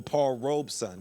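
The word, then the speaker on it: Paul Robeson: That's why my favorite of all is always Paul Robersonson or Paul Robesson, which I just found out today is that's how you actually pronounce his name because he talks about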